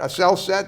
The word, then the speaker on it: Asel Sat: Is that Asel Set?